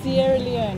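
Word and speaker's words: Sierra Leone: Sierra Leon is how you say it.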